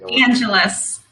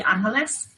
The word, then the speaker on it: Angeles: last name angelus yeah i usually defer to the spanish pronunciation but i wasn't sure well actually it's filipino so that's why a lot of people say angelus even though normally it would be angeles right interesting thing how